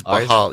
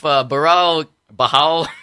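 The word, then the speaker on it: Barão: You don't say there. I think it's Bahal. Yeah, the R's are pronounced as H's.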